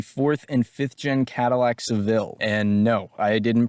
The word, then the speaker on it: Seville: and it's the fourth and fifth gen Cadillac Seville and no I didn't pronounce Dil wrong it's the sevil although these